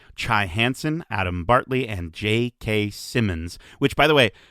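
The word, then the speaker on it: J.K. Simmons: Hansen, Adam Bartley, and JK Simmons, which by the way, have I just been pronouncing JK Simmons with a D my entire life? And it's there's no D in his name.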